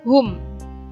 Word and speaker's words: whom: subjeknya orang terus kemudian Hum bukan W ya bacanya tetapi Hum sama Who Ho bacanya Who w-nya tidak terbaca terus kemudian whom di